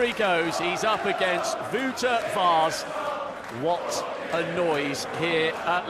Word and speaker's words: Vaes: Wouter Vaes, and I promise you, I've checked the pronunciation, it is that. Wouter as in outer, Vaes as in Keith, and he is the big outsider here.